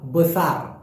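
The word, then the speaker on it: besar: বলে বড়কে বলা হয় বুসার কি বলা হয় অনেকে বলে বুসার মূলত উচ্চারণটা হবে বসার বসার বুসার না হ্যাঁ সঠিক উচ্চারণ হবে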